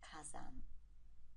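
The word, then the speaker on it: 火山: And we get fire mountain, which is pronounced using the Chinese pronunciation of the onomi. And that becomes kazan.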